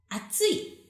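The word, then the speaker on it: あつい: Okay, so you can see 3 different kanji here, but pronunciation is same. Atsui, atsui, atsui, atsui.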